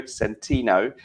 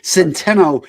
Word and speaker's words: Centeno: today because it's antonio centino from real men real style did i pronounce the name correctly you're you're close dan i'll go with it i like that pronunciation centeno is how i pronounce it but you never know